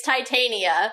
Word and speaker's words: Titania: screwing me up yeah but for the record it's Titania yeah and we will say